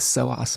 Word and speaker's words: psoas: okay thanks Bonnie sorry uh silent p in the beginning um all right I'll look up the psoas muscles um because yes as